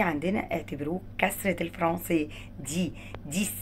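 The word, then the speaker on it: dix: ديس الاكس هنا هو تدينا صوت الاس.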